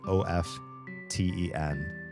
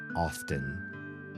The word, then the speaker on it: often: It's the word o fen, which almost the majority of my life, I believe I've pronounced this word as often because there's a t and it's also related to the word oft, right?